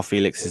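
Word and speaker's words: Félix: though and you know we're all actually pronouncing uh Joe Felix's name wrong it's Felix yeah that's the first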